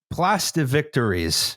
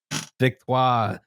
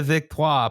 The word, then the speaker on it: Victoires: It, I- is there a better way to pronounce that? LIAM: It's fine. Moving on. ALICE: It's probably victoire? MIA: It's fine. JUSTIN: 'vic-TWAH.' Pl- Place de- LIAM: Yes, it would be.